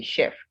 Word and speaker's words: chef: ch would give but for chef the ch in french you have the sound as che so if you tr you have the sound as sh if you try to pronounce chef with ch and you say chef you would be saying the word the wrong way so you're meant to say chef and that means if